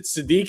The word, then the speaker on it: Sadiq: We're gonna have to take is it Sadiq? Is that how you say it?